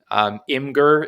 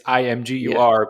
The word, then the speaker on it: Imgur: because you're our guest, but Imgur, is that really how you say it? Like, I thought it was some people Imager. call it Imager.